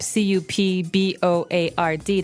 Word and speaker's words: cupboard: We usually keep them in a cupboard. Okay, so you might want to say cupboard because it's cup c u p b o a r d. That's not right. The word is pronounced cupboard.